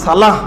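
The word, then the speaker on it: صلاة: সালাত, জাকাত, ইবাদত, শাহাদত। অত সবগুলো আরবি উচ্চারণ কি? সালাহ, জাকাহ, শাহাদা, ইবাদা।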